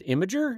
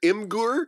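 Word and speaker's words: Imgur: IMG you are as imager is that how you pronounce it there's a big debate on the site it's it's either in Gore or imager and and and that's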